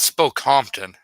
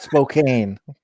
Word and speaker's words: Spokane: figure out how to its spoke Compton it's not it's not Spokane can pronounce cam yup